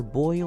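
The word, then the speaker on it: Boyle: he Shinra his name his name is Arthur boil like you know boiling water except it's not spelled like that is like boy and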